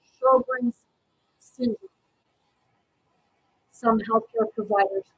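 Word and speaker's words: Sjögren's: This disease is pronounced Sjogren's syndrome.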